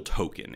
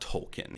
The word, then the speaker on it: Token: his name is still token it's not tolkien his name is token black in the episode stan